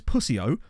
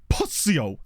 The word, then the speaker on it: pussio: The word is pussio, but you have to say it like this with a real pop on the P. So, pussio.